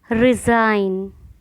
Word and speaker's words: resign: ऐसी स्पेलिंग जिसमें जी है लेकिन उसका उच्चारण या प्रोनाउंसिएशन नहीं किया जाता। साइन, कैंपेन, कैंपेन अभियान। डिज़ाइन, resign, foreigner, assign.